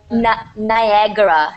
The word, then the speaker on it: Niagara: don't know could you repeat again how to pronounce the Naga Niagara nag Niagara Falls n n Niagara Falls lies